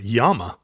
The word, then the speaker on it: llama: 3L llama in in in castian they pronounce it yam yes I don't know